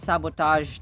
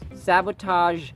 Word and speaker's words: sabotage: na Mr dictionary Thomas sabotaged his sister and pretended to faint was merely an artifice artifice sabotage sabotage sabotage letter G is pronounced as ZH as in j j